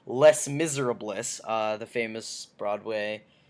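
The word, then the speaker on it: Les Misérables: a big fan of L Miz uh the or sorry sorry I'm pronouncing it wrong it's Les Miserables uh the famous famous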